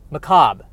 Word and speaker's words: macabre: Macabre.